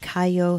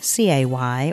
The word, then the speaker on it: cay: The English use Cay, C-A-Y, or K-A-Y, such as Cay Sal Banks. Cay is pronounced by Americans as the letter K, but by Englishmen as the word key.